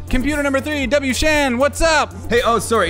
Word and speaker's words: WShand: All right, computer number three, WShand, what's up? Hey, oh, sorry, it's actually pronounced WShand.